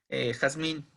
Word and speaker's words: Yasmín: Bueno, hay quien gente que pronuncia Jazmín, no Yasmín. Pero bueno, Yasmín vota por la E.